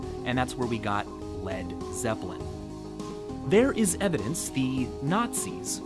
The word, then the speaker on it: Led Zeppelin: He removed the A so it wouldn't be pronounced lead, and that's where we got Led Zeppelin.